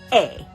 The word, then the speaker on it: -er: ER in English is pronounced ER but in French the ER is pronounced a you probably notice if you've been following along with us in the videos of Simon says that the verbs that end in an ER are pronounced a like Dante sote Marche uh the pronunciation say a